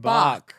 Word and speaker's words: Bach: Bach. It's like a chicken. Bach, Bach, Bach. I was going to say the famous composer. Oh, yeah. Some people say that. I say chicken.